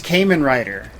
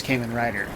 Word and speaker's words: Kamen Rider: YouTube kind of blog or something he says Cayman writer and there's no way he could think it's Kamen Rider like dude if all you have to do